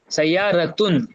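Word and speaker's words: سيارةٌ: नहीं नहीं, मतलब यहाँ पर ना ता के साथ प्रोनाउंस करते हैं इसे, सय्यारतुन।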